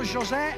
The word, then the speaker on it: José: Benvenuto José, mi ha detto, si pronuncia come José Mourinho, e allora qua, anche se viene dalla Svizzera.